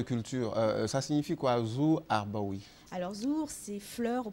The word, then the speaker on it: Harbaoui: la racine c'est Harb en fait ça se prononce harboui et le la racine c'est Harb et Harb